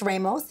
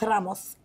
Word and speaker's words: Ramos: If you say my name in English, it's Ramos. If you say my name in Spanish, it's Ramos.